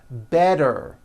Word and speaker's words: better: make things easy so if a letter T Falls between two vowel sounds which are voiced so if it falls